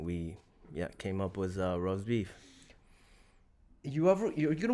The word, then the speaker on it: Rozebiff: but it's not spelled rast beef but it's pronounced Rose beef right if you if you look at it now if you want to really get technical on how you pronounce it then is Rose Biff right how'd you guys come up with the